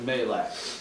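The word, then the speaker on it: מלאך: But we would pronounce it in our language Malak.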